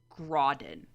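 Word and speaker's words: Graudin: also Invictus by Ryan I think you pronounced her name Grodin yes like g-r-a-u-d-i-n so if you're looking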